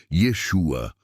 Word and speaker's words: Yeshua: siga o verdadeiro profeta Jesus ou na pronúncia Hebraica Yeshua ou yaa e aos